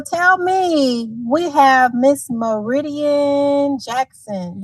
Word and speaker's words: Meridian: Okay, so tell me, we have Miss Meridian Jackson. Did I say her name right? Yes, you did. Meridian.